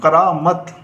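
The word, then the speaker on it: کرامت: तो अब इसकी हिज्जे करेंगे किस तरह से, काफ रे अलिफ करा मीम ते मत। तो अभी से मिलाएंगे हम करामत, इस तरह से ये करामत पढ़ा जाएगा।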